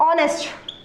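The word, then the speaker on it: honest: वैसे ही अगर हम देखते हैं ऑनेस्ट, इस वर्ड में भी देखिए एच साइलेंट रहता है और ऑनेस्ट के पहले हम हमेशा एन लगाते हैं।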